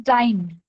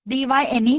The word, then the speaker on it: dyne: This word is pronounced as dyne, D-Y-N-E, dyne.